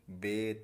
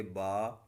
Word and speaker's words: با: اردو تلفظ سے پرہیز کریں، یعنی بے، تے، سے، ہے، خے، توئیں، زوئیں وغیرہ ہرگز نہ پڑھیں، بلکہ با، تا، ثا، حا، خا، طا، ظا پڑھیں.